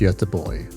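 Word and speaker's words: Göteborg: Tucson means a thousand and er means Ireland pronounced as Tucson ER the team and watch hails from a place called yada boy the English version being Gothenburg and this is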